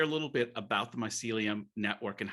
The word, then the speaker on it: mycelium: sealy mycelium how do you say that my mycelium yeah mycelium yeah uh you know i've got